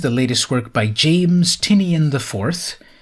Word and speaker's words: Tynion: latest work by James tinian I 4th which actually now I think it's pronounced tinan after his smash success of